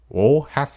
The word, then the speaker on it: ㅗ: how you write it o has the sound of when you pronounce ooh but you open your mouth into an l sound this one sounds similar to when you realize something new and go oh combined with the consonants